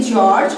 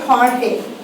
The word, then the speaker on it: Jorge: Now this spelling, this G-O-R-G-E, you can say George or you can say Jorge. Jorge put up his hand, this one, okay? You can say George or Jorge. Both the pronunciation are correct.